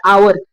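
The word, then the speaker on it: hour: ठीक है, अब दूसरे वाले एग्जाम्पल में देखिए एन आवर, तो जब हम इसको हावर नहीं पढ़ते, हम इसको पढ़ते हैं आवर, आ से पढ़ते, तो आ तो क्या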